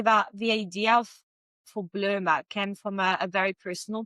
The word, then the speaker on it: Bloma: How do you pronounce it? Bloma. Bloma.